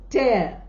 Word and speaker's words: tear: We call it as tear.